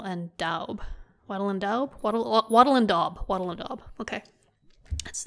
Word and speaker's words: wattle and daub: Wattle and daub. Wattle and daub. Okay. That's the correct pronunciation, I believe.